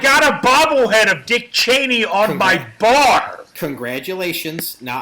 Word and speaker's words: Cheney: name first and last name say it Dick Cheney Danny name George versus Vice President say his